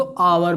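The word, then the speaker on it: hour: हम इसको पढ़ते क्या है, हावर तो पढ़ते नहीं है ना, हम लोग क्या पढ़ते हैं, हम इसको आवर पढ़ते हैं, आवर, ठीक है, आवर। अब देखिए हमने यहाँ एच को क्या किया, साइलेंट कर दिया, ठीक है।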